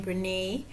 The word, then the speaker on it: Brené: Now I even know how to say her name, Brene.